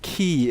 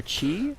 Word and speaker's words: ki: Ki so or chi? Is it like a similar? It's Ki. Oh, okay. So I think it's ki, using the Japanese pronunciation.